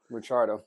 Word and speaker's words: Ricciardo: If you watch that season with Ricciardo, and now I'm saying it like you do, Ricciardo. I finally got him to say it right.